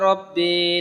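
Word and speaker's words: رب: তারপর হচ্ছে রাব্বি, রাব্বি পড়া যাবে না, রব্বি পড়তে হবে।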